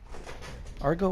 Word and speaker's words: argot: their slaves make the this pictorial argo argot argo or argot google how to pronounce a-r-g-o-t argo okay excuse me make this